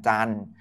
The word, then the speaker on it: จันทร์: ที่ เขา ว่า วัน จันทร์ สังเกต ว่า มี อะไร ไม่ ออก เสียง บ้าง ครับ ท ทหาร ร เรือ ตัว ที่ เยอะ ที่